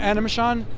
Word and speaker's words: Animashaun: So this is Animation, I believe is how you pronounce the last name. Animashaun? Animashaun.